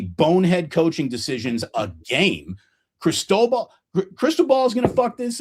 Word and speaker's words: Cristobal: Cristobal. His name is Mario Cristobal.